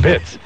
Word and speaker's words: Pitts: It's not Peets, it's Pitts.